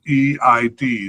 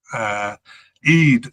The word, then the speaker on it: Eid: I'm not sure how to pronounce it. It's spelled E-I-D. So Eid, I'll pronounce it as Eid.